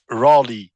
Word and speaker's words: Raleigh: Ça se prononce Raleigh. Raleigh, ok.